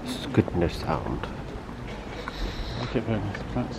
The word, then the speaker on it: Skudeneshavn: So apparently it's pronounced Skudeneshavn.